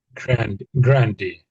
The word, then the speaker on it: grandee: I think it has a slightly different pronunciation in the Spanish, but I think it comes from we get it from the Spanish, I think.